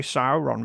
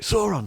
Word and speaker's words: Sauron: It should be Sauron because the AU symbol is pronounced OW in the Silmarillion Index for pronunciation of Elven and Mordor speak names.